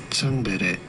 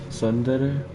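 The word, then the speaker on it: ツンデレ: In Japanese, it is said as tsundere, tsundere. This is a term for a character. Tsundere? I hate to break it to you, but I'm not Japanese. So let's see how it's said in English. Development process. In English, it is usually pronounced as tsundere.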